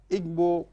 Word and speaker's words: Ingo: practitioner social secretary and of course we have Igbo Padre am I right is that the right pronunciation yes so it's good to have you